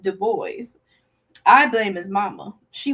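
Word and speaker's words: Du Bois: I bet he didn't tell you that he pronounced web deo's name as devois for years until I told him that it's pronounced de boys.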